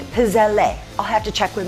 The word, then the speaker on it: pizzelle: So today we're going to do pizzelle, which is how I learned to pronounce it, but it's got an e on the end of it when you spell it and from what I've learned you always pronounce e at the end of an Italian name as eh. So maybe we're making pizzelle.